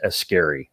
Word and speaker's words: Ascari: who speak Farsi, I was informed that it is Ascari. So, yeah, so I've been actually saying it wrong for, I don't know, I had 30, 40 years before I finally figured out the right way to say my last name.